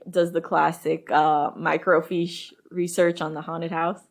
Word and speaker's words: fiche: fish like that but it's fish f-i-c-h-e yeah and that makes